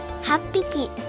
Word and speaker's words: 八匹: We replace this h with pp. so it becomes PPIKI. For 8 and 10, we do the same processing as we did for the satsu example. Then add PPIKI after that, becoming HAPPIKI 8匹 or JUPPIKI. 10匹 Again, reading this aloud, it's 8匹 for 8 sheep, 10匹 for 10 sheep.